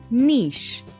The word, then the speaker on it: niche: another word is niche how do you pronounce this word niche or niche well its correct pronunciation is niche which means something or